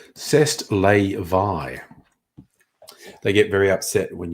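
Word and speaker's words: c'est la vie: say Allah thee or to pronounce it the way the French pronounce it CEST lay Vai they get very upset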